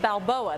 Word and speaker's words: Balboa: a delicious Burger this is it it's the Balboa that's how you say it yes that's it